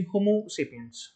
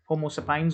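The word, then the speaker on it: Homo sapiens: अब एक एग्जाम्पल है, जैसे मान लीजिए होमोसेपियंस, होमोसेपियंस, राइट, होमोसेपाइंस ऑल्सो, तो both pronunciations are right actually.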